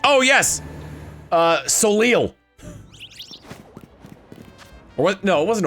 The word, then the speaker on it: Soleil: I think it wasn't until I played Fire Emblem Awakening that I figured out how to pronounce Soleil. I was like, oh yes, Soleil.